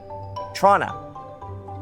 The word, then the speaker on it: Toronto: The big city in Ontario is pronounced Toronto. Nobody says the second T except Americans.